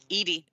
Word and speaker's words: Edie: oh yeah and we got some john aston eddie mcclourg is in there edie edie thank you thank you i always mispronounced someone's name it was bound to happen